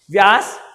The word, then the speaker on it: Beas: व्यास English में BEAS बोलते हैं और प्रोनाउंस करते हैं व्यास से।